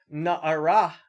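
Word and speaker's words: נערה: young woman, na'ara, right, with a dagesh in the hey, an aspirated hey, so you actually say the hey. So generally a hey at the end of a syllable is silent. If it has a dagesh in it, you're supposed to say it.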